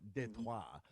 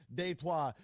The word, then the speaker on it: Détroit: A new version of a once coined French connection here for Détroit. Which is how it's pronounced in French. Which that's the whole reason I love the promo video they put out, because they actually said Détroit.